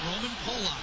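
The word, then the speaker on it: Roman Polák: And yes, we did check the pronunciation on Roman Polak, and that's what he prefers.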